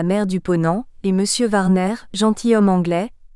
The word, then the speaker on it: Warner: du Ponant, et Monsieur Warner, gentilhomme anglais, lequel nos Français nommaient Monsieur Warnard pour faciliter la prononciation du W que notre langue ignore, ont en un même